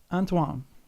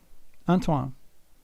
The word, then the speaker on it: Antoine: Anto keeps it's a French name. Let's see. Let me see if I can see read it again. Antoan. Antoan. That's how you say it. I looked it up. I like saying French names the way they're supposed to be said if I can say it.